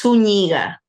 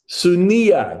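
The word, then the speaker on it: Zúñiga: It's Suniga. Sunia. The G is like a Y.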